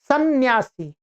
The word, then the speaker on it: संन्यास: कहते हैं सन्यासी क्या सन्यासी यहां पर जब हम सन्यासी या सन्यास उच्चारण कर रहे हैं तो उसमें हमें दो नकारों की ध्वनि सुनाई पड़ रही है।